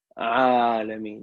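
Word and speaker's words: العالمين: Alamin, yeah. So you start from here, from the middle of your throat.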